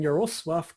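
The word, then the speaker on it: Jarosław: now all right Josh hit me with some polish pronunciation of people's names right so today we are going to be talking about the brothers lick and your suave Kachinsky these two polish men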